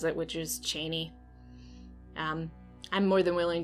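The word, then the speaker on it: Chani: far by the way i say cheney that's how frank herbert pronounced it i don't know how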